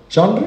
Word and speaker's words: genre: different styles of writing genre genre is how you pronounce it genre of literature anyone